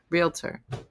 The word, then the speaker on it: Realtor: Realtor. It's two syllables.